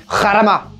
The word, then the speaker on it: Jarama: tu nous parles de Jarama pardon hararama et bien c'est une bonne question mais peut-être le fait d'avoir grandi à la frontière espagnole fait que je suis plus sensible à la prononciation espagnole même si je mon